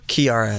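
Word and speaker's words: Kiiara: Her name, is it pronounced Kiara? Kiara.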